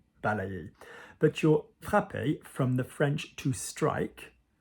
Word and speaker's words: frappé: If you're going to pronounce it and you don't say frappé, it's you're spitting from a bridge.